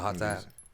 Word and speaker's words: Houthis: Like, we first of all let's deal with the Yemens and the Houthis. Make sure I said that word right. Did I say it right? The Houthis.